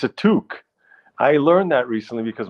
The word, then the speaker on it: toque: know the Canadian word for Beanie yes a toque it's a toque I learned that recently because my friend Judith uh mocked me for calling it a to it's spelled to but it's pronounced toque apparently take my palala take my pal oh